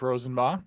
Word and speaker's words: Rosenbaugh: And my name is Jeff Rosenbaugh. That is how you pronounce my last name if you're seeing it on the screen and wondering.